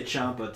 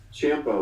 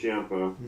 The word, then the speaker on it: Ciampa: I always say Ciampa too. I say Ciampa too, but apparently it's Ciampa, like Tampa.